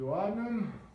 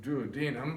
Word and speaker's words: duodenum: and that is the duodenum. I've also heard other professionals pronounce it duodenum, but I think both pronunciations are acceptable.